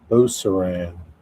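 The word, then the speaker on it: Beauceron: Buceron? Buceron? Yeah, pronounce it. Beauceran.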